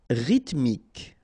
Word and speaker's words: rythmique: Rythmique. Remember, Y pronounced like I and then H doesn't exist.